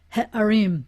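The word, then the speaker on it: הערים: i have a no when i have a hay with a kamatsu akhet with a kamats an iron with a kamatsu in the unaccented syllable then what comes before it is going to be ha harim the cities i will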